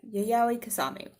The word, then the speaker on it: Yayoi Kusama: you're in Japan where she lives you would pronounce it kisame yeah yeah so but Yayoi Kusama um and so yeah because something is well